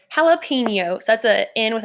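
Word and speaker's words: jalapeño: word and then think about how someone might mispronounce it so what I so this is suppose to be said like jalapeno and it's like that's a little my page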